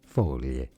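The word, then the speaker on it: foglie: Folie. Folie. Folie is how you say. Folie is Italian for leaf. Or leaves, I should say.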